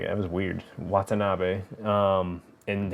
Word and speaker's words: Watanabe: like you gotta do it yeah like Ken Watanabe um why did I say his name like that was weird Watanabe um and how people are just [ __